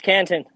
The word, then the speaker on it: Canton: Have you heard of Canton Network? Okay, canto or Canton? No, Canton.